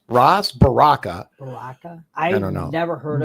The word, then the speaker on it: Ras: How do you say is it Ras? Ross.